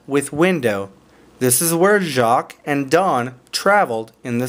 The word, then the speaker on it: Jacques: jacques it looks like jaquez but you're not going to say jaquez because it's a french name and the french language is kinda weird so this is gonna be pronounced jacques okay okay a deep